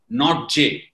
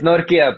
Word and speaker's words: Nortje: It has got N-O-R-T-J-E. In India, we will definitely call it as Nortje. And how are we supposed to call you? It's Nortje, but Nortje, whatever you're using, that's fine.